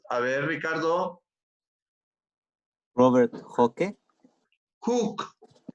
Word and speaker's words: Hooke: ver ricardo roberto que cook xavi se pronuncia como si fuera una o emmanuel mundo que dijo